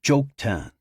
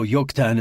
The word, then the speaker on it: Joktan: Operation Jokan, Nicole read. Lahav jumped in. No, yuktan is pronounced with a Y sound, not a J.